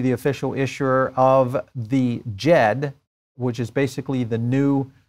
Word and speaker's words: Djed: I think that's the way you pronounce it, D-J-E-D, Djed.